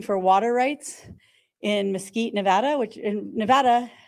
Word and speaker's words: Nevada: Nevada which in Nevada anyone from Nevada mad at me because I just said it wrong no I did say it right I you say Nevada people get very mad um really they do but